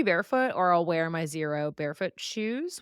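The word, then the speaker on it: Xero: No, but I if I'm deadlifting, squatting, whatever, I'll either be barefoot or I'll wear my Zero barefoot shoes, which is spelled X E R O Zero.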